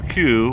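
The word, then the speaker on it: queue: Take away U-E-U-E, and you still have the letter Q, which is pronounced Q, which sounds like the word Q.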